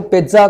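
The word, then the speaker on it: pizza: कि जैसे पिज़्ज़ा है, अब देखो पिज़्ज़ा को हम हल्का सा टी बोलते हैं, प्रोनाउंस ऐसे ही करते हैं, पिज़्ज़ा, नॉट पिज़्ज़ा, eats पिज़्ज़ा, पिज़्ज़ा, पिज़्ज़ा, हल्का सा टी बोलना है आपको।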